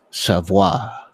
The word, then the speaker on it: Savoy: out on their Instagram page on how to pronounce it. So it is Savoy.